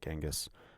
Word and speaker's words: Genghis: you say his name people say genghis people say kangas but i went into genghis khan for a little